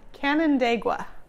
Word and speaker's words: Canandaigua: How do you pronounce the name of that lake? Oh, Canandaigua.